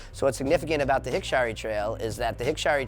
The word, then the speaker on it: Hikshari: Hikshari is the way it's pronounced. It's not really Hikshari according to the Cultural Committee.